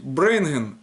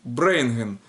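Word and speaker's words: ברענגען: Дальше приносить брейнген будет брейнген.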